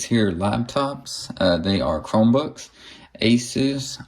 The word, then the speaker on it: Asus: I call it Asus. Some people say Asus, whatever. It's the same word. It's how you pronounce it. So I'm going to call it Asus. That's what I've always called it.